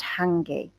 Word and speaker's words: hangi: cooking and it's called hangi okay this is a maori word it's not a an english word but it's pronounced hanging so let's um we'll